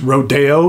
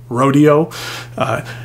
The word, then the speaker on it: Rodeo: things in Southern California Rodeo Drive uses the Spanish pronunciation so it's rodeo not rodeo after all it used